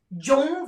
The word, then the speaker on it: zhong: The other that sounds almost the same but is not, which is zhong qi, zhong versus zong.